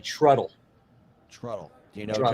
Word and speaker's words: Trudel: But how did you pronounce John's name? Trudel. Oh, you got that one wrong. Trudel. It's actually Truddle.